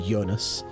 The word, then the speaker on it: Jonas: It's Dutch, so it would be Jonas, right? It would be pronounced with the Y sound.